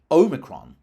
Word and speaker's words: omicron: And presumably this pronunciation arose by analogy with other words starting with O, like Ohio or odium, or, I think it's